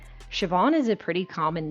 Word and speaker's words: Siobhan: how it's written but it's her name is pronounced Siobhan but like spelled in the Irish spelling but